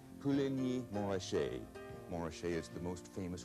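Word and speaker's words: Puligny-Montrachet: Another white Burgundy, Pouligny-Montrachet, Pouligny-Montrachet.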